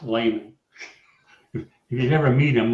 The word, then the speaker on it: Lahman: Yes, and it's pronounced Lehman.